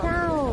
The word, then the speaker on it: chao: Chilean don't pronounce well the CH, like ch.